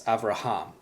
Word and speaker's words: Avraham: So when you pronounce Hebrew, the accent is always on the last syllable. So as an example, I have here the name Abraham. This is Avraham is how you pronounce it in Hebrew. But really with the accent, it's Avraham. The accent is on the last syllable, Avraham.